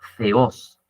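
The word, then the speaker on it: θεός: Zeus proviene del griego Ceos. Eso que dice teos, la t y la h en griego se pronunciaría como una Z.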